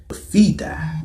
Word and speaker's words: Fidai: And they would go on to be known as Fidai, which is phonetically similar to Jedi.